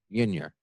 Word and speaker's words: Meunier: Meunier. Meunier. Where is that? What's the ethnicity of that? So it's a French last name, actually. In French, it's pronounced Meunier.